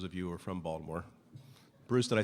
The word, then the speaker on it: Baltimore: Baltimore, for those of you who are from Baltimore.